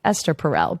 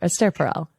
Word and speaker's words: Esther Perel: do a side note I think I've been pronouncing her name wrong the entire time I've been saying Esther like Esther perel but is it a stare Aster Pearl yes um so she's Belgian and I think that's the Belgian pronunciation I know that she's